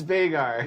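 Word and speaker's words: Veigar: wizard hat no again they are listen it's vegar yep there you go artificer artificer oh that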